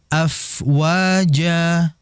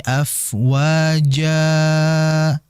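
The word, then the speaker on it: أفواجا: afwaja fokus di jaumnya adalah mad iiwad yaitu fathain setelahnya alif pada akhir ayat atau kalimat maka dibaca cukup dua harakat. Ini sering terjadi dibaca lebih dua. Jadi dibacanya waritanasa yadkhuluna fi dinillahi afwaja. Itu terlalu panjang. Tidak seperti itu. Dua harakat saja. Afwaja sudah. Tapi ingat dua harakat juga jangan sampai ada hamzah. Ini sering terjadi juga seakan-akan ada hamzah seperti ini.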